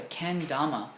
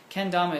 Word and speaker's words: kendama: awesome productions he asked do i have a ken dhamma kendama is spelled a k-e-n-d-a-m-a and you can wikipedia that